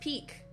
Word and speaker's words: Pique: Pronounced peak, Oh, Peak.